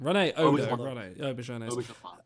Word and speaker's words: Auberjonois: How do you say his last name? Rene Auberjonois. Yeah, and I think he's due to his passing away.